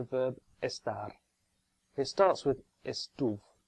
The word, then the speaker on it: estuve: It starts with estuve. Remember that the stress this time is on the penultimate syllable.